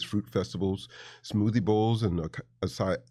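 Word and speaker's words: açaí: festivals, smoothie bowls and asai is it asai or I always pronounce it asai. Asai.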